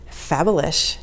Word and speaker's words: Fabalish: and Jack, introduced me to, and it is pronounced Fabalish, which is a fabulous name for a brand, by the way.